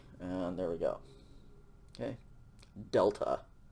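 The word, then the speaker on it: δέλτα: there we go okay delta like dog dog next letter is called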